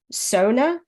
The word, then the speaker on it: sauna: or as we're told in the novel is pronounced Sona no sauna sauna okay well the book that